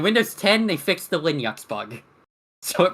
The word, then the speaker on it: Linux: it was that it mispronounced Linux as Linux. That was the only thing wrong with it. Other than that, it was perfect. And Windows 10, they fixed the Linux bug.